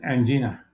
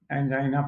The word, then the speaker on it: angina: You must be wondering why I'm referring to and China as anina. That is because we were wrongly taught angina factories. Whereas the correct pronunciation as is ana.